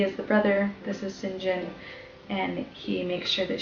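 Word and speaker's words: St. John: like St so like St John but it's pronounced singen I don't know exactly why that's something that I should look at perhaps and share what I find in another video but it's it's pronounced singen and so this person that sees that she's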